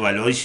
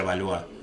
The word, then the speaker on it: Valois: vieron que hice valois yo siempre pronuncio valores y no se pronuncia evalúa así como lo francés se pronuncia matrimonio entre